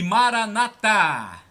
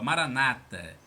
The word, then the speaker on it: Maranatá: E Maranatá. Os protestantes acentuam a penúltima sílaba, Maranata. Os católicos acentuam a última, dão a tônica na última, Maranatá.